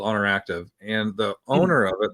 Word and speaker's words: Oner Active: It's Honor Active, but it's spelled one, so ONER Active.